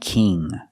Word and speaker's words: king: And king, we use the long E sound like green bean. It's more closed, king.